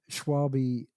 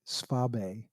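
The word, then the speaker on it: Schwalbe: So this year I'm going to run Schwabe, actually Swabe. As I finally, Oh, when I was over in Germany, they told me how really? to pronounce it.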